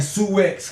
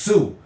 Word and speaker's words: Sioux: When you saying Sioux X because it's spelled Sioux, but it's really pronounced Sioux, and you older than me, and I say, hey, you know what?